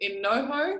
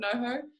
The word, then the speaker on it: NoHo: Like I remember going to this in NoHo, that's how you say it, North Hollywood, NoHo.